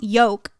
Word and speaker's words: yolk: nothing but it's like why would you spell yolk y-o-l-k where the the l i don't know it should be y-o-k-e yeah or why okay